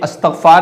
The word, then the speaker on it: استغفار: کہ استغفار کا ورد کیجئے یا استغفار پڑھیے، استغفار کا اہتمام کیجئے۔ تو یہ تلفظ صحیح اور درست نہیں ہے۔ اصل اور